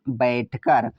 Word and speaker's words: बैठकर: तो B से तो होता है वा, AI से ए की मात्रा, TH से ठ लेते हैं, K से का, ए साइलेंट रहेगा, R का मतलब र, तो हुआ बैठकर।